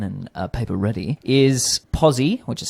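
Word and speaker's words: Pozi: got a pen and a paper ready is posi which is spelled p o z i dot b e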